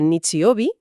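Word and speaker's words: 日曜日: Resulta que el domingo que se pronuncia Nichiobi contiene nuestro kanji y significa literalmente el día del sol.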